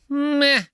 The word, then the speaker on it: meh: Not blah, meh. I don't like that one. Both words, by the way, have an H in them that is silent.